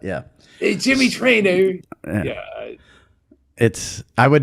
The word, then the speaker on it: Traina: Big ER at the end of that. Yeah. Hey, Jimmy Traina.